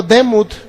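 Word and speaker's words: דמות: nuestra semejanza la palabra semejanza es el hebreo demut d e m u t así lo puede pronunciar en nuestro Castellano pero significa que usted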